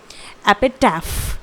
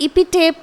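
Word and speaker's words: epitaph: तो इसे हम वन वर्ड में कहेंगे एपिटैफ। स्पेलिंग है APITAPH, इट इज एपिटैफ। और इसे हम इपिटेप या फिर इपिटैफ नहीं पढ़ेंगे, गलत हो जाएगा प्रोनाउंसिएशन। इसका सही प्रोनाउंसिएशन है एपिटैफ, ठीक है।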